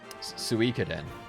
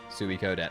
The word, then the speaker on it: Suikoden: Suikoden Like Suicune. Suikoden. I mean, I always I never pronounced the E at all.